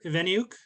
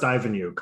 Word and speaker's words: Iveniuk: excited to um invite esteemed creator author veneuk to the show so welcome uh nice to have you here thank you uh it's actually pronounced ivanyuk but uh don't worry about that everyone gets